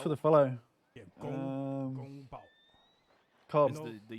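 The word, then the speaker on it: 宫保: Gong. No, gun. Gong. Go. If you say you go. Gong. Go. With the NG at the end. And then bao. Gong Bao. Yeah, perfect. Perfect.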